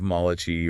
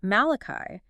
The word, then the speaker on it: Malachi: So like the rhythm of Malachi or Mulligan. Right, I hear it now. Dee-da-da, dee-da-da.